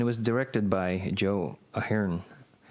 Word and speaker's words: Ahearne: was directed by Joe Ahern. I think it's pronounced Ahern because that's how they say it on the commentary.